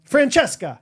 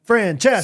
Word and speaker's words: Francesca: all ends in a Franchesca multiple three syllables or more Francesca sorry not Franchesca not Franchesca um let's think uh it